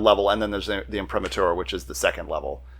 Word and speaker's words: imprimatur: up how it's printed it's an impro Prima imprimature imprimatur okay um I should know how to